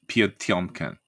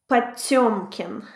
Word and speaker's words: Potemkin: But the E with 2 dots is pronounced as yo or... So it's like Potemkin. Potemkin. Yeah, because it's sometimes written out P-O-T-Y-O-M-K-I-N.